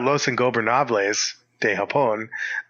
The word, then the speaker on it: Los Ingobernables de Japón: So if you're talking about Los Ingobernables de Japón, that's how you say it.